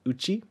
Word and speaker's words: 内: That's this kanji here is pronounced uchi. U-C-H-I.